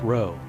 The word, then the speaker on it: rho: with a sideways head and that P is pronounced row hence the title Cy finally there is another